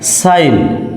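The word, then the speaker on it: sign: উচ্চারণ হচ্ছে না যেমন সাইন এস আই জি এন সাইন এর অর্থ হচ্ছে স্বাক্ষর এখানে জি এর উচ্চারণটা হয় নাই এরপরে রেন আর ই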